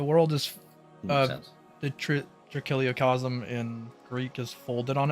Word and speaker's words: trichiliocosm: Yeah, trichiliocosm is fine. Like, that is pretty accurate. If that's what you want. No, I just wanted to make sure I was pronouncing it correctly. Oh, no problem. Yeah, Kili is 1,000 in Greek. Okay. I see. Yeah, cosm is world.